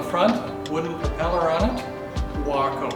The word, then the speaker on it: Waco: Waco, by the way, not Waco. You've got to pronounce that one right.